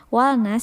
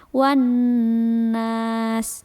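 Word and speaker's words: والناس: dibaca seperti minal jinnati wan nas wal nas. Nah, kenapa tidak dibaca wal nas? Karena di situ ada syiddah. Jadi alif lamnya tidak dibaca, langsung dimasukkan ke huruf nun yang di depannya. Wan nas.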